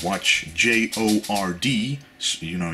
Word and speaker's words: Jord: This is called a Jord watch, J-O-R-D. So, you know, you spell it like that, but you say it like Jord.